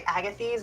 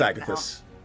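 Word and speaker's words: Agathys: And then um I also have armor of a I want to say Agath, but I'm pretty sure it's not how it's supposed to. It's athus.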